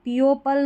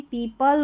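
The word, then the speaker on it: people: A market where पीपल, पीओपल नहीं, पीपल were discussing, discuss और फिर सिंग, ऐसे 3 पार्ट्स में इसको डिवाइड कर दें।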